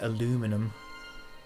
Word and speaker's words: aluminium: everything American and also some words are pronounced different differently in American so like I'm not going to say aluminum I'm G to say aluminium I mean I don't